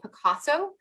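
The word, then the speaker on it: Pacaso: meeting, and that is a new company called Picasso. And it's not spelled like the artist, it's spelled P-A-C-A-S-O.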